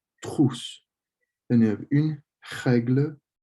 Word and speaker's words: trousse: It's a little bit of a hard word to pronounce with TR, the French TR, and that French R, but it's une trousse.